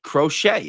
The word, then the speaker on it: crochet: Crochet.